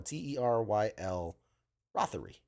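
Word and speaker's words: Teryl Rothery: I think it was Terrell Rothery. I want to say that's how you pronounce her name. Robbery. Terrell Rothery. I'm gonna double check just the Terrell. This is Terrell, Teryle Rothery.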